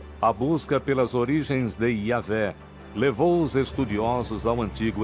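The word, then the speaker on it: Yahweh: Assim, seu título era Deus, e seu nome eram essas 4 letras, YHWH, que provavelmente eram pronunciadas Yahvé.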